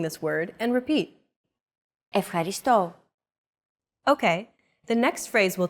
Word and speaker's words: Ευχαριστώ: Do you remember this mark here? We talked about it in lesson 2. It's the accent mark, and it indicates that this syllable is stressed.